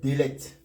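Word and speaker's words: דלת: Donc ça, on lit Délet.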